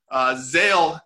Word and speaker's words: Zale: Zale is how you pronounce it, Zale Clothing Line.